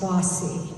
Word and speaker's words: BAWSI: The acronym BAWSI is pronounced bossy, which many have said perfectly describes its founders.